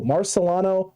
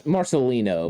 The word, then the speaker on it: Marcelino: gemmell and marcilio oh marcellano mccrary ball you're welcome for probably hopefully getting that name right it's marcelino marcelino yeah marcelino my apologies